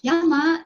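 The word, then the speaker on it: jama: can see it here the j is not pronounced as j it's pronounced as the y okay so it's posted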